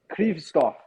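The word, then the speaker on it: Kryvtsov: Sergei Kristov. Sergei Kristov. Sergei Kirstov. Kirstov. Ah, Kirstov. Thank you, Callie. Krivstov. I asked my Ukrainian friend. So you could pronounce it three different ways.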